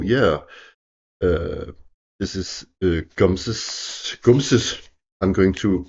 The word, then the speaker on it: Gumse: Uh, it sort of rhymes with nums with sort of means but or um rampy or something like that, but it's it doesn't mean that.